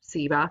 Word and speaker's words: ceiba: The latter seems to indicate the inclusion of selected items of personal body decoration, such as his stone bead or ceiba, pronounced ceiba, like I just said it, necklace.